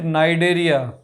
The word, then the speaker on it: Cnidaria: चलो इसका निडेरिया, third is CNIDARIA, C silent नाइडेरिया।